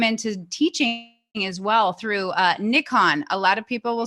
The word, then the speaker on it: Nikon: teaching as well through Nick on a lot of people will say Nikon here in the US that's kind of how we say it but I believe correct actual accurate pronunciation is Nick on and so you you